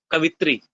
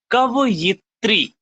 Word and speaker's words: कवयित्री: लोग ये बोलते हैं, अगर जो लिखा जाए कवित्री, लेकिन ये पूरा का पूरा गलत है। सही क्या है? कवयित्री, ठीक है।